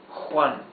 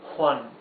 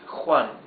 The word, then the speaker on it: Juan: So this is Juan, not Juan like in English. It's Juan. It's rougher sound.